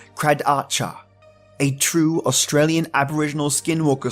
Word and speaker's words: Kradatye: McNamara and the credits are spelled kr a dat ye but pronounce cried Archer a true Australian Aboriginal